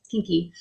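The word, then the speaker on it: quinqui: a spanish director and kinky is not spelt like the american kinky it's spelled q-u-i-n-q-u-i kinky and it's short for the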